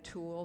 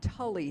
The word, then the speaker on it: tulle: I said it was very pale green, and it had a tulle skirt. Now, in years past, I would have said a tully skirt, because it is spelled Tulle after all.